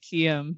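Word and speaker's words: Aharietiam: I say Aharietium. Whoa. Ooh, I But like the- that E gets its own syllable. It's like Harriet. Aharietium.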